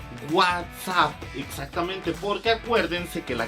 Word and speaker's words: WhatsApp: tuve fue fue decir whatsapp y no se dice whatsapp se dice what's up exactamente porque acuérdense que